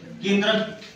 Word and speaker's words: केंद्रक: केंद्रक प्रोनाउंसिएशन होता है इसका किसके जैसा? अदरक। अदरक के जैसा। अदरक केंद्रक।